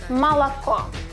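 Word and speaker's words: молоко: Mala unstress is the last the first and the second are unstress. That is why we articulate malco. Not o but a malaco.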